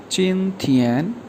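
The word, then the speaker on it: 今天: जी, जो सबसे पहला वर्ड है चिन थियन, JIN फर्स्ट टोन के साथ, TIAN ये भी फर्स्ट टोन है, प्रोनाउंस किया जाएगा चिन थियन।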